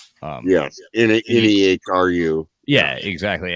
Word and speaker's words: Nehru: Nehru.